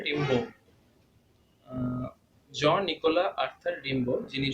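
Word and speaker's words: Rimbaud: তো উচ্চারণটা ওরা করে, মানে ফ্রেঞ্চ উচ্চারণ করে রিম্বো।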